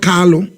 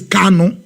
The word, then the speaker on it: Kanu: our leader is not carlo our leader is kano it's not carlo it's canon for some of you they'll always make this uh pronunciation is kano not carlo amazing okay i remember